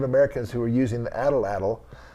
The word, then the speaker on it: atlatl: Why don't you explain what an atlatl is and how the Book of Mormon talks about casting arrows and things?